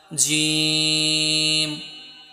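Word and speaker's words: ج: আমার সাথে সাথে তোমরা বলার ট্রাই করবে, আলিফ, আলিফ বা, বা, বা, তা, তা, তা, সা, নরম, সা, সা, জিম, জিম, জিম, শক্ত হরফ, জাতি, জাতীয়, জিম।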